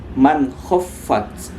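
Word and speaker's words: مَنْ خَفَّتْ: Cara bacanya man khaffat, man khaffat, man khaffat. Diusahakan jangan sampai ada dengung di situ, karena dia bertemu dengan huruf izharul halqi.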